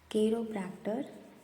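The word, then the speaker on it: chiropractor: फिर साइकोनलिस्ट orthodontist optometrist ऑप्टेशियन ऑस्टियोपाथ path केरोप्रक्टर इसको Cairo नहीं पढ़ना यहां पे इसका प्रोनंसिएशन दिया हुआ है केरोप्रक्टर केरोफडेस्ट ग्राफोलॉजिस्ट जेरेंटोलॉजिस्ट ये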